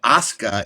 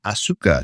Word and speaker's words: Asuka: That's why Asuka is not Asuka. She's Asuka.